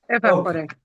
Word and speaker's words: evaporate: So it is it is ah it's not e okay so it is aa okay we have